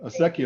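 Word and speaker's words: acequia: this uh a sec yeah that's how you pronounce that word uh aseki Association asekia is our our waterways uh ditches that were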